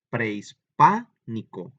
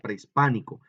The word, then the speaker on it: prehispánico: Pues en el fonema de pa, porque miren, prehispánico, ahí es donde está muy fuerte, ¿verdad? Prehispánico. Ahora la digo normal, pero vean cómo se nota, prehispánico. Ahí es donde está, ¿verdad? Lleva el acento en la A, en el fonema que forma la sílaba pa, ¿sale?